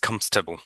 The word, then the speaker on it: comfortable: তো এটাকে কমফোর্টেবল, কমস্টেবল, মানে ও আরটা উচ্চারণ হবে না, কমস্টেবল, কমস্টেবল মানে কমস্টেবল, কমস্টেবল, রাইট? তা পুরো শব্দটা পড়তে হয় না। This chair is comfortable, comfortable, right?